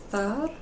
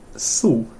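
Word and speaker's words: þú: Thar. Oh, so close. Thu. Thu. Yeah. Thu. And back in Middle English, so sort of 500 years ago, thu was indeed how we pronounced thou.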